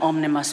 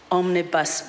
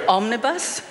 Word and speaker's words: omnibus: a statement on an omnimus belt omnimus omnibus bill and one of the things i've got to learn as to how to pronounce that term properly omnibus um and i just